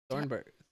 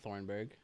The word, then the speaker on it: Thunberg: They have Greta Oh yeah, Greta Thunberg, not Thornburg.